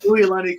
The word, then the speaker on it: Uilani: Yeah, it's pronounced Uilani Ku'ule. She's actually Hawaiian, and they taught me how to pronounce names and use their language, so it was pretty nice for me to figure out.